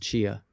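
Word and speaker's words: Tchia: or something like that but it's called It's pronounced chia okay and it's about a little girl who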